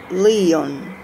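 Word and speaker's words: Lion: his inseparable companion was heinz la leon pronounced like leon who later who later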